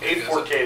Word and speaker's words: A4Cade: I was just curious how you pronounce the name. Is it So it's A4Cade? A4Cade is what we're working with.